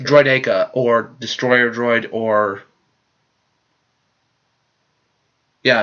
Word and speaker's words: droideka: no idea it sounded for the longest time I call it droidy cough droidy cars because they're rolling around your car yes i know it's troy to cause we're the what's the other name droideka or destroyer droid or